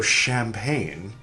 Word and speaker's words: champagne: years went by and the French gradually changed their pronunciation of ch from ch to shu. And so champagne got imported into English with the ch sounding like shu.